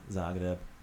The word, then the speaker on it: Zagreb: So the Z, like in Zagreb, it's always pronounced with that Z sound. Got it? Got it. Thank you. Zagreb.